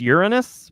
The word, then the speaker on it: Uranus: All right, which I guess is officially pronounced Uranus, but that's not as fun.